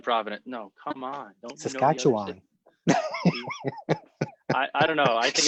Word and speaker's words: Saskatchewan: So how do you Saskatchewan? How do you pronounce it? Saskatchewan.